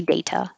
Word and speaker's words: data: can say data data but americans are going to change that t to a d data and this would be a as distressed vowel dada and this one data with an a like hey data but the a at the end will always sound like uh because it's not stressed beer beer when your